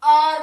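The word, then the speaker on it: hour: ये हमारा जब हम इसको बोलेंगे तो ये हार नहीं बोलते, इसको हम आर बोलते हैं या फिर आवर बोलते हैं। तो ये जो एच होता है ये हमारा साइलेंट होता है, तो यहाँ पे हम एन लगाएंगे।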